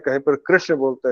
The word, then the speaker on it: कृष्ण: जो महाराष्ट्र में कृष्ण और उत्तर भारत में कृष्ण, दोनों ही गलत है। न तो उसमें उकार का ऊ का आभास आना चाहिए, और न ही ई का।